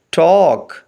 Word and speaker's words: talk: لفظ کے اسپیلنگ ہیں TALK۔ اس میں ایل سائلنٹ ہے، اس کی آواز نہیں آئے گی، باقی 3 لیٹرز کی آواز کو ملا کر پڑھیں گے ٹاک، یعنی بات کرنا۔ نیکسٹ